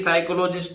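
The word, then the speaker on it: psychologist: अगर एन आ जाए पी के बाद एस आ जाए दोनों ही कंडीशन में पी का उच्चारण नहीं होता पी साइलेंट रहती है उदाहरण आपके सामने है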